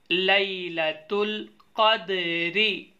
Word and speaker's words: ليلة القدر: Spelling کرنا سکھاتے ہیں۔ یہاں سے لام یا زبر لی، لام زبر لا لیلا، تا لام پیش تل، لیلا تل، قاف دال زبر قد، رازر ری، لیلا تل قدری۔ خایا زبر خوی، را